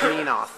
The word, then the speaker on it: Menoth: No, I'm sorry, it's pronounced Menoth.